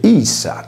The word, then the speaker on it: ipsa: Facendo il dovuto parallelo, nella voce latina ipsa, la lettera P è il raddoppiamento della successiva S, per cui il termine si legge issa come il pronome di